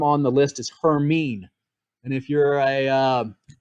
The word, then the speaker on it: Hermine: on the list is hermine and if you're a uh um Harry Potter fan I think they said Hermione in that one but it's pronounced her mean so this is the